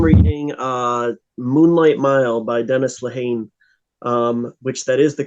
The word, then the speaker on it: Lehane: I am reading Moonlight Mile by Dennis Lehane, which that is the correct pronunciation, so you got to learn that in the next Dennis like 3 Lehane?